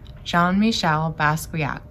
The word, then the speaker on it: Jean-Michel Basquiat: child about the artist jean-michel basquiat we say his name john michelle basquiat he's a very famous